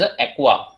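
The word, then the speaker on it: aqua: Water नहीं कहना है, इट is called as एक्वा। यहां पर स्पेलिंग भी इंपॉर्टेंट है, AMMINE।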